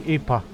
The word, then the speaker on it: Ipa: Based on Turkic pronunciation, it would be Ipa.